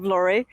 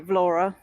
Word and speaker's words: Vlorë: Well, Danny told me that I have been mispronouncing Vlora. The whole start of this video I was saying Vlore, but I know now that we say Vlora.